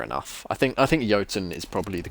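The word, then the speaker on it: Jötunn: but it wouldn't load you just said pronounce yotan with Y that's fair enough I think I think yatin is probably the correct pronunciation it unless it's pronounced IDI eaten is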